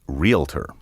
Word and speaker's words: realtor: right and wrong relator puts the sound of the l before the a as though the word were spelled r-e-l-a-t-o-r the proper pronunciation sounds